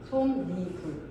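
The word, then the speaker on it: 솜이불: 솜 플러스 2불. 앞말이 뭐가 와도 상관이 없다 그랬지. 그지? 앞말이 뭐가 와도 상관이 없기 때문에 손자 상관없어 그지? 종성 있어도 상관없지. 근데 뭐 만났어? 이모음 만났지. 이럴 때 니은이 더해질 수 있다고. 어떻게? 손 니불. 요렇게. 여기 끝이에요. 여기 끝이야. 아, 완전 쉽다. 솜 니 솜니불 이렇게 합쳐질 수가 있는 것이죠.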